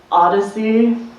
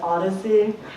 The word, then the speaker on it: AAADS: someone I know named step Kong it's actually pronounced Odyssey a a a DS Odyssey okay yeah wow so we're involved in mentorship